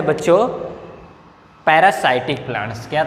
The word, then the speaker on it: parasitic: है, वो है बच्चों पैरासाइटिक प्लांट्स। क्या था उसका तीसरा नाम? क्या है? पैरासाइटिक। PARASITIC, पैरासाइटिक plants. पैरासिटिक, कुछ लोग पैरासिटिक भी बोलते हैं इसको, ठीक।